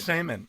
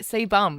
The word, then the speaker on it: sebum: Semen. It's not semen. It's And it's not your sebum. skin that produces that, babe. S-E-B, like sebum.